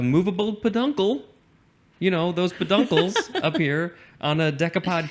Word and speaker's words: peduncles: Peduncles, it's literally ped plus uncles. So how do you pronounce that word? Peduncles? Peduncles. It's got to be peduncles.